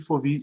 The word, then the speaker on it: Foville: A Foville inferior e Foville superior. É Foville mesmo, que é do francês, né? Em francês não se pronuncia os dois L's, a não ser em mille, tranquille e ville.